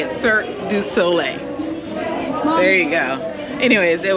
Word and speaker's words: Cirque du Soleil: a show that you don't know how to pronounce mommy I can say it sir du Soleil there you go anyways it was good it